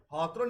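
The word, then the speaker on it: Hawthorne: हॉथरन experiment के साथ ये स्टार्ट होती है। हॉथरन की स्पेलिंग ये है, ये हिंदी और इंग्लिश में ये हॉथरन ही पढ़ेंगे इसको, HOWTHRONE।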